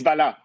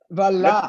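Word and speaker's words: Vallat: Now, is that Vallet? Is that how I pronounce it correctly? Is my French correct? It's Vala. Vala. You're close. You're very close.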